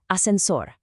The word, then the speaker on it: ascensor: Next, ascensor. Notice where the emphasis is. It's on that last part.